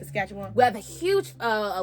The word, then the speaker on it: Saskatchewan: you say it yes it looks like Sacagawea it looked like Sasquatch I think I found the pronunciation I think it's Saskatchewan I think you said it right Saskatchewan we have a huge